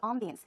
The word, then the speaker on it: ambiance: I say ambiance. It's closer to the French pronunciation, but closer to the American pronunciation, a lot of people say ambience.